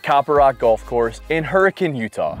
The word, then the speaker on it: Hurricane: Rock Golf Course in Hurricane Utah why did you just say hurricane like that Hurricane's how the locals say it Gary Copper Rock opened